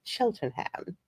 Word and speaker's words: Cheltenham: And since Cheltenham is my hometown, I can confirm that it's pronounced both ways depending on who you ask. Yes, if you want to be posh, you will call it Cheltenham.